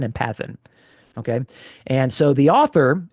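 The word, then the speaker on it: παθεῖν: Greek uh mathan uh is actually uh it rhymes with the verb for suffering pathn. Okay. So matan and pathan.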